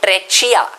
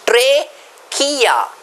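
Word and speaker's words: trachea: respiratory tract pipe treia students please remember Tre k how do you pronounce it Tre K okay some students by mistake call it tachia it is not tachia it is traia students it is also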